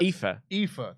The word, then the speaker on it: Aoife: How do you pronounce that? Aoife.